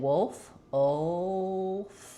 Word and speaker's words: wolf: But if I'm saying wolf, I feel like that is one where the back of the tongue really lifts for that dark L, and then we don't lift in the front. So don't overpronounce it, but keep the L in there because it affects how the vowel sounds in the word wolf.